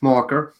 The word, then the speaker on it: Maher: So my name's hard to pronounce, the last name. It's Mocker, but that's...